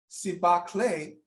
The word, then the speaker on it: Sibahle: here with Regina Bruton Smith the owner of siba clay tease I hope I did that right did I pronounce it right yes you did okay now